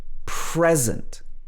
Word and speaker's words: present: a present for you here the stress is on the first syllable present okay there are a